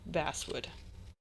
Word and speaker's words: basswood: Pronounced like the fish, not the instrument. Incredible. Okay, that is helpful. basswood.